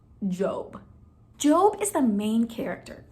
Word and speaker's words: Job: we're gonna meet a man named job it's spelled like job but it's pronounced job job is the main character in a super